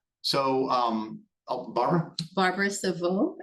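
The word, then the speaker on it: Cevieux: Barbara Savo. It's Savo is spelled C E V I E U X.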